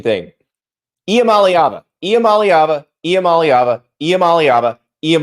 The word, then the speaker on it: Iamaleava: like the answers from Nico and yes the pronunciation thing IAM malava IAM malava IAM malava iam malava ala hold